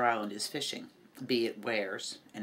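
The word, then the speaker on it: weirs: is fishing be it wears and it's pronounced where like where did you go and that is where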